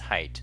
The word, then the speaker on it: height: know it's correct me should be pronounced height not hate oh thank you guys